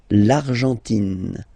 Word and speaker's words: l'Argentine: Okay, so you've got this nasal here. En, l'argent, and then tin. Don't pronounce the final it just gives you the pronunciation of the N. In. L'Argentine.